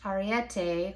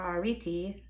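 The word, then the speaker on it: Arete: on how to approach ariette or ariti depending on how the greeks pronounce it who is the queen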